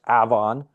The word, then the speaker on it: Avon: Oh, Uh, Avon is pronounced Avon.